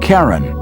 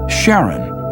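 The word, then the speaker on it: Charon: Christy suggested the name Karen after the ferryman of Pluto's underworld in Greek mythology but preferred to pronounce it Sharon more like his wife's name Charlene from the Motions of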